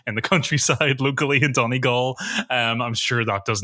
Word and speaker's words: Donegal: Have I pronounced that right, Chris? Thank you. Donegal, but you'll get away with it. Donegal.